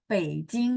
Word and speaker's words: Beijing: Tapi bukan bacanya Bei, tapi bacanya Bei. Bei baca P. Jadi kalau teman-teman yang udah ikut kelas Hanyu pinyin, harusnya bacanya Beijing gitu ya.